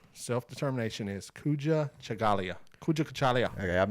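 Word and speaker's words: Kujichagulia: Kuja Kachalia, which means self-determination.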